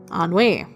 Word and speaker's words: ennui: of Anu of pride how do I pronounce this word how the on me ennui on way thank you google Levon we of pride